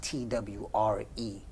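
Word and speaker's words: Twi: a of twee and it's spelled t-w-i but it's pronounced t-w-r-e and um i i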